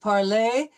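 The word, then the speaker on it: parlent: present tense of parler, we will not be pronouncing that. It'll be parle, il parle, elle parle. So in this particular case, you see that the ENT is not pronounced at all. We'll end the sound with the L.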